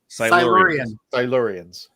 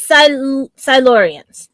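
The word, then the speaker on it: Silurians: Like, how do you pronounce it? Silurans. Silurans.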